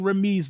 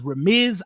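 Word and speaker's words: Ramiz: it's remiz I've been saying remse the whole time I apologize for name butcher it's a habit of mine it's a thing that I do they call him Miz in press conferences so let's say his name is raiz ahed is currently your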